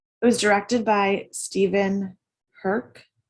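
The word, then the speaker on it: Herek: was directed by stephen herk it's spelled h-e-r-e-k but it's uh one of the trivias on his page said that it rhymed with perk that would be hercules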